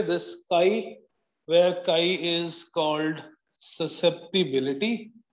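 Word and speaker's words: χ: This काई, where काई is called susceptibility, written as चाई बट प्रोनाउंसिएटेड एज काई, इज कॉल्ड मैग्नेटिक ससेप्टिबिलिटी.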